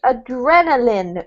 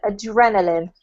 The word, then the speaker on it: adrenaline: this one here Paolo is adrenaline not line but Lin adrenaline okay generally what doesn't